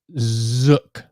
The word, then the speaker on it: Zook: Yes, Zook rhymes with book, look, took, shook, hook.